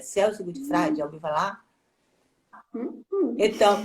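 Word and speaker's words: Celso Gutfreind: já li alguma coisa dele, que é o Celso Gutfrage, pronuncia assim, é Celso Gutfrage, já ouviu falar?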